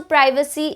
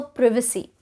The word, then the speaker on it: privacy: So some of the words that have two correct pronunciations are, it is also privacy, it is also privacy. It can be data, it can also be data. It can be schedule as well as schedule, and it can also